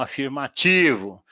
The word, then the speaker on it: afirmativo: A nossa pronúncia aqui é paroxítona, então afirmativo, negativo. Tá? Nós enfatizamos o final da palavra, isso gera confusão.